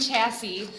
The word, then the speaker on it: chassis: single or combined Rosalie how did you pronounce it that S at the end is crazy uh or combined chassis uh transportable after fabric